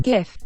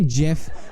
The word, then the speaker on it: GIF: of all more importantly it's pronounced gift okay if you're calling a jiff I don't know what to tell you there must be something